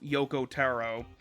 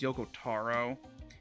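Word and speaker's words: Yoko Taro: We've got Lord Gooner himself, Yokoaro. I pronounced that wrong. Yeah, I pronounced that name wrong. I think it's Yokotaro. Anyway, he condemned the censorship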